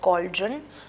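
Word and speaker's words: cauldron: pronounce कैसे करते हैं that is कोल्डन because C ए यू L call done D आर ओ एंड रन करके इसको प्रोनाउंस करते हैं ये होती है बड़ी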